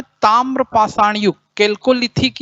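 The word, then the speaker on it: Chalcolithic: Second में कौन सा युग आता है, ताम्र पाषाण युग, कैल्कोलिथिक या चाल्कोलिथिक एज, है ना। कैल्कोलिथिक कहलाएगा उच्चारण में, CH के नाम से कुछ लोग चाल्कोलिथिक बोलेंगे।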